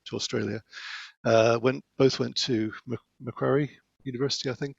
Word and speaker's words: Macquarie: Scotland and then to Australia, both went to Macquarie University, I think it's pronounced, in Sydney.